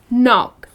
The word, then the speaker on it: knock: it then it's just knock the k is silent another one knife oh